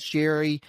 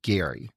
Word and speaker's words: Gerry: the name which is g r r y pronounced as Jerry for a while it seemed like folks were